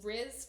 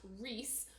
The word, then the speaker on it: Rhys: Her main love interest is this guy named Riz or sorry it's Rhys YS and in my head it will always be Riz but apparently it's pronounced Reese.